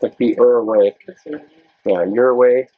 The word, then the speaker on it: Ouray: Yeah, your way. How you pronounce it? Your way, I think.